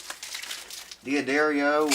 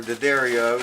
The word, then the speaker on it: D'Addario: One guy had a D'addario or D'addario, depending on where you live, how you pronounce it, guitar.